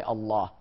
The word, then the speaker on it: Allah: mathematical equation and say how do you pronounce l a w l aw is law inal the second part of lamb is La but the first part is a L plus l a w plus h Allah so on and so